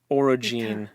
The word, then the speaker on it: orogene: find it sorry okay orogene I think o o r o g n e I'm pronouncing the g n as Gene orig and then or